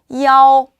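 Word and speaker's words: 幺: 야오, 야오, 야오 라고 읽힙니다. 자, 숫자 1을 그냥 숫자로 읽을 때는 이 하고 읽지만 방번호, 전화번호, 그 다음 버스 번호 읽을 때는 야오, 야오, 야오 라고 읽는다라는 거 기억해 주시면 좋겠습니다.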